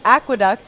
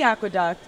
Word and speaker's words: Aqueduck: for your child um it's called the aqueduct Aqueduct tocom it's spelled AE and Duck and basically it's this